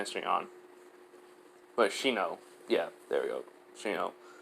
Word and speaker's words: Shino: I don't know why I cannot remember his name, how to pronounce his name right now. Shion? Yeah, just say Shion. But Shino.